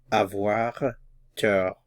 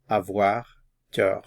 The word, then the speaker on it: avoir tort: Avoir tort. Avoir tort. Notice the T is silent. Avoir tort.